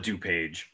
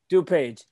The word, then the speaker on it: DuPage: Yes, I mean here we just call it DuPage. DuPage is that the right pronunciation?